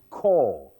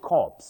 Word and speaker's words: corps: That b is silent. Subtle. Then z and core. Core. Not corpse.